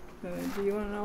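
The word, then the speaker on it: Dachau: After the war, my parents took my sister and I to a place that's called Dao. Do you want to know how that's spelled?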